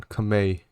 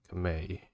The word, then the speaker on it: Khmer: Hold on, Khmer. You guys did say in the comments that's how you said it. Okay. I just never heard it said out loud. Khmer.